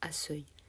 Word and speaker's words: accueil: Dans accueil, accueillir, on inverse le e et le u du son e. Si on nommait de le faire et qu'on écrit accueil, cela se prononce asseuil.